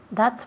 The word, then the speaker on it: that: Remember cuando tenemos TH así, that. That. Sacamos la lengua un pelín y soplamos.